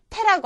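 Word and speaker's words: て: 자, 그 다음에 나오는 것은 태라고 하는 글자입니다. 태는요, 아까 타와 마찬가지로 단어에 첫음으로 왔을 때는 태, 첫음이 아닐 때는 때에 가까운 발음을 해주시면 되겠습니다. 태.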